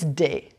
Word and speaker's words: des: The plural for both is des. It rhymes with les.